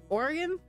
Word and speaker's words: Oregon: to say Oregon and I used to be be made fun of for saying Oregon cuz I thought that was Oregon for my whole life because you know that's that's how it's that's how it's spelled but it's Oregon it's so good that